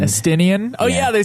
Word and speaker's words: Estinian: Okay, so once that's all settled, you return to Ishgard, deal with a few things, and along with Istinian. Estinian.